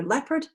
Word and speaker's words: leopard: Thank You Nicole leopard leopard and people are two examples where E and O look like they're going together leopard is Leo part that's a its story the e is tends to be pronounced and therefore what we have there is a silent letter but if you look